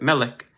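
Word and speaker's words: ملك: i k or m-i-l-i-k whatever you need to write for you to pronounce it Malik if you're a king um and queen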